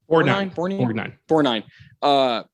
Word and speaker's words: Borgnine: Borgnine.